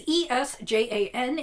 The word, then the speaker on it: Esjan: I don't know exactly how to pronounce it. It is Esjan.